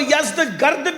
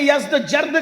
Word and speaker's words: یزدجرد: جس کا نام تھا یزدجرد، اس کو یزدگرد بھی کہتے ہیں ایرانی لب و لہجے میں، عربی میں یزدجرد کہتے ہیں۔ ایرانیوں کی جنگ ہوئی